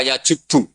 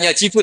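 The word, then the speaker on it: يَجُبُّ: Santri akan tahu ini bacanya yajibu apa yajubbu. Kalau di hadis alislam yajublah mergo maknane yt. Jadi ketika ada seorang sahabat lama sekali kafir dulu ketika Islam dia ngeluh ya Rasulullah setelah saya Islam apa dosa saya zaman jahiliah diampuni? Terus Nabi ngendikan, "Alislamu yajubbu maqoblah." Itu bacanya bukan yajibu tapi apa?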